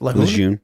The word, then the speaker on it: Lejeune: He is one of the many affected by the water at Camp How do you pronounce it? Lejeune.